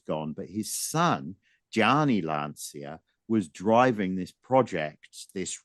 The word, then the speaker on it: Lancia: This was the year of Lancia, or Lancia is the correct pronunciation, isn't it?